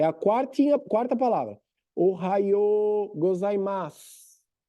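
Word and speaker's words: おはようございます: Aí, eles começaram a dizer só Ohayo, Ohayos, Ohayos. Viu que encurtaram? Na pronúncia do dia a dia. Ohayo gozaimasu, Ohayos. Depois virou só os.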